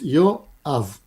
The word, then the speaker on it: Yoav: How do you say your name, Yoav? Treat it like two separate words. Yoav.